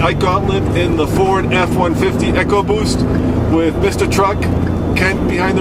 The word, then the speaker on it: EcoBoost: I personally go for EcoBoost as it sounds cooler. Yeah, I go for eco too because it sounds like economy, ecology. That's what I think they want, instead of repeating sound.